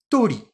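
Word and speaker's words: 鳥: Et oiseau, je le prononce tori.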